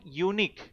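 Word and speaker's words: unique: Welcome আওার guest এখানে দেখো ইউনিক Yuta হচ্ছে ওয় এর মত উচ্চারণ হচ্ছে।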